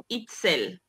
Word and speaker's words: Itzel: name yes of course my correct pronunciation for my name is itsel it's sad it's silly